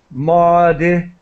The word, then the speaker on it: modified: help you with the pronunciation of modified so there is an i sound modified modified okay this is just